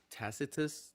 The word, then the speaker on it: Tacitus: Tacitus.